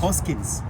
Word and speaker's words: Hoskins: Yeah, that's actually how it's pronounced. Hoskins. A lot of people don't know. I's are E. E's are eh.